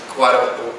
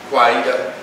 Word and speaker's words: Kawaida: He's the executive director of the African American Cultural Center, US, and the National Association of Kwaida, that was one syllable short on that, Kwaida organizations.